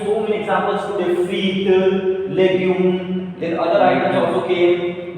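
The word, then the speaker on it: légume: Legume.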